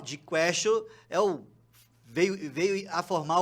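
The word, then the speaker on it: quaestio: Porque Castio lembra questionar, porque em latim se pronuncia questio, e em latim questio significa questão, significa pergunta.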